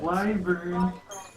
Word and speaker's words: wyvern: Wyvern.